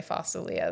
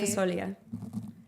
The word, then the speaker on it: fasulia: Okay, well, I'm going to teach you to pronounce it right. How do you pronounce it? Fasulia. Oh, that's not how we say it in our house. And we call it Really? fasolia. Fasolia, How fasolia. did you just say it?